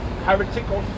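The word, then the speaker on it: αἱρετικός: Hereticos. That's how you pronounce it in Greek.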